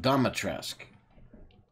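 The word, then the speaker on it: Dimitrescu: So it's pronounced Domitresque.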